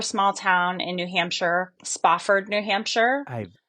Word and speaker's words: Spofford: I grew up in a super small town in New Hampshire, Spofford, New Hampshire. I Not many people know Spofford, but they might know Chesterfield or Keene, New Hampshire. Okay. I've never heard of Spofford.